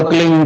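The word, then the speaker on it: क्लीं: की मात्रा और बिंदी, उसका उच्चारण होगा क्लीन गा की ध्वनि निकलेगी पीछे।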